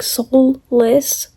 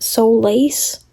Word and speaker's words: Solis: I'm realizing that her last name, the way I pronounced it, sounded like soulless, like no soul. I'm pretty sure it's meant to be said Solace.